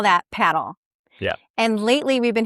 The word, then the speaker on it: padel: So look, strictly speaking, paddle. I'm going to say that. It is, a lot of people will call it padel.